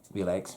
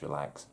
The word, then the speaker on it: Relx: these across i know some people say real eggs but when you read the literature it says it's pronounced relaxed so i'm going to go with that and just remains final